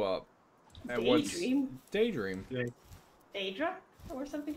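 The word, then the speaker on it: Daedream: Daedra? Or something like that. No, it's Daydream. It's called Daydream. It is called Daydream. But it's spelled like the Yeah, it is a Daydream.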